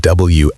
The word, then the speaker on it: wander: Like the word wander rhymes roughly with ponder or onder.